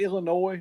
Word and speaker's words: Illinois: And listen, at the end of the day, Illinois beat us. Yeah. I call it Illinois. A lot of people say Illinois. However you want to pronounce it. The Illini. How about that? You don't say the S, but yeah.